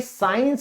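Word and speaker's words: science: यहां क्या है, सी साइलेंट है, तो इसीलिए ये सीधा क्या बन जाता है, ये साइंस बन जाता है।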